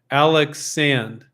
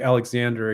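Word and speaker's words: Alexandre: So Alexander is pronounced Alex Sand. Alex Sand, and it's a French name. Cool. Thank you for letting me. And then I'll promptly forget that and call it Alexander again.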